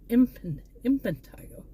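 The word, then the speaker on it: impetigo: I always thought it was infant, not but it's impantigo. Spel I imple. But yeah, it's it's kind of funny when you figure out when you find out I've been pron mispronouncing that for years, but nobody says anything.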